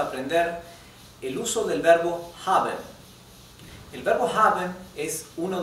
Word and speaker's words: haben: La h no es muda en alemán. La h se pronuncia como una J muy sutil, como una exhalación en realidad. Bien, ¿cuáles son los usos del verbo haven?